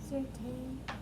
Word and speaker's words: certain: Normally we know that A-I will make the long A sound, but in this case it makes the short E sound. So imagine that that's just a short E and it's T-E-N.